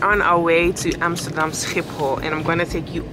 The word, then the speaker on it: Schiphol: I'm wondering, how do English people say Schiphol? I think it's very difficult. Schiphol. The way to pronounce this is Amsterdam Schiphol Airport.